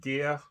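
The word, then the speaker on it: Gerre: As always with Tankard, fantastic vocals from, I think it's pronounced Gear. If you're German, feel free to put me right on my pronunciation here if I've got it wrong.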